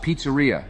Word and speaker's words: pizzeria: Trump, it is pronounced pizzeria.